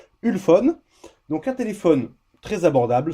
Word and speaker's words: Ulefone: téléphone chinois de marque alors on va le prononcer à la française une phone donc un téléphone très